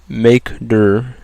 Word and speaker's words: mkdir: If I want to make a new directory, we use the command makedir, which is spelled mkdir space, and the next thing that follows is the directory name.